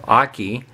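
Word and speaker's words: Okky: But this one here, his name is, I think it's Aki. The one that the way it's supposed to be pronounced. It's O-K-K-Y. So Aki.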